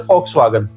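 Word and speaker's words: Volkswagen: बोला जाता है फऊवे हम यहां पर volwagen बोलते हैं जिसको पता नहीं है बाकी बहुत सारे लोग जो जानते हैं ब्रांड को वो बोलते हैं foxwagen तो folxwagen वी को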